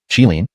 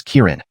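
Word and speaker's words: qilin: better understanding and fluency chilin is translated as Kirin which is the Japanese pronunciation of the Chinese chilin a mythical creature the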